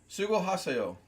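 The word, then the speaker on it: 수고하세요: Sugo haseo. Can you put it phonetically in the chat? Su, go, ha, say, oh.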